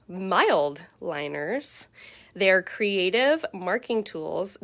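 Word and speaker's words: Mildliner: test that we did i called them mid liners they are called mild liners they are creative marking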